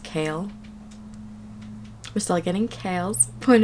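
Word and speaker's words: Chaol: getting I found out that his name is pronounced kale we're still getting Kale's point of view and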